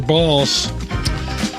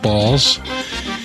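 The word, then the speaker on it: Bahls: Stay away from your balls. Yep. And apparently they do hang low. Which was a very cool thing. One last thing. I worked at Augustana College, and Steve Balls is the president of Augustana College, and he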